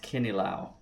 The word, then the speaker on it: kinilaw: I believe it's pronounced kinilaw. It's a Filipino dish, and it's really good.